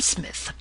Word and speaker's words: Psmith: "I am Smith," said the oldtonian reverently. "There is a preliminary P before the name. This, however, is silent like the tomb.